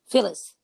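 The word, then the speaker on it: Philles: signed to phil spector's label phil phillips reckons phillies or phyllis how do you pronounce nick phyllis phyllis okay now in november of 61 they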